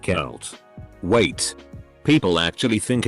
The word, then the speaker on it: Celt: a scientist lab coat people think celt is pronounced salt but it's pronounced celt wait people actually think it's pronounced salt that